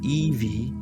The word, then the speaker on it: Evie: Long before Christianity, Polynesians told how the first woman, Evie, whose name means bone and is pronounced phonetically the same as Eve, was made by the divine creator from a bone extracted from the first man's body.